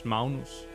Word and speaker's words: Magnus: also a difference and this no this is not also not pronounced magnus this is maunus so it's is not